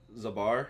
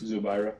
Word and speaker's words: Zubaira: yeah i mean uh zabar or how do you say his name is zubaira yeah zabara he's minus 115 as a favorite uh where hakeem is minus 105.